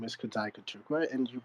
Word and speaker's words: Kudzai Kutukwa: Flo said in her introduction my name is Kad Kuka and you pronounced it correctly and um I'm a bitcoiner